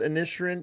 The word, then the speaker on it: Inisherin: I did get a chance to see the Fablemans Banshees of Inisherin, even though it's spelled Inisherin, it is Inisherin, I guess is how that's pronounced in the movie.